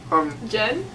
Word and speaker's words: Jen: Jan. Jen? Jan. They keep pronouncing her name differently. I think it's Jen, though. It's The Jen. Wikipedia says Jen. It's I'm going Jen. It's We're Jen. sticking with Jen.